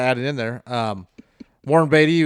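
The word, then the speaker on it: Warren Beatty: it in there um Warren batty was the one who played di Dick Tracy right or did I say it wrong because I always r no you said it great actually got it right but I guess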